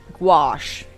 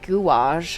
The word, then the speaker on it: gouache: I think if I ever try gouache gouache gouache gouache again. I heard someone pronounce it gage and I hated that.